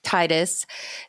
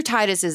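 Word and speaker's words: Tidus: protagonist of Final Fantasy 10 is not actually Titus and yes all you I'm actually people I know it's technically pronounced tetus and I don't care because that sounds stupid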